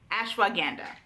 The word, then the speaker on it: ashwagandha: we're gonna talk about let me get the pronunciation right ash Wow ganda ashwagandha you can see it because I will put